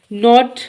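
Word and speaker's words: knot: नॉट गिरा को कहते हैं कि इसका साइलेंट होता है।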